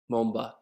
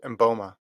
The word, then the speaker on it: Mboma: what happened today dude christine mumba i i said her name wrong christine boma boma how do i say last name yeah i think it's mboma and bulma dude this